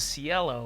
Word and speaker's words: Cielo: The product I'm going to show you is named the Cielo Breez Max. I keep wanting to pronounce this as Cielo, which means sky in Italian and Spanish, but the company pronounces it as Cielo.